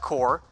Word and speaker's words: corps: You spell with an S. You say it like core.